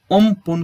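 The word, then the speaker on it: Amphan: चक्रवाती तूफान अम्फान का उच्चारण ओमपुन के रूप में किया जाता है।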